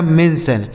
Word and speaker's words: mention: आगे MENTION, तो MEN से दोस्तों हो गया मेन, और TION का उच्चारण हो गया सन। लिखा गया मेंशन।